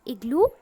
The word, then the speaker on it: igloo: की है igloo की, but students this word igloo start with in pronunciation ई से स्टार्ट हो रहा है प्रोनाउंसिएशन में, ओके।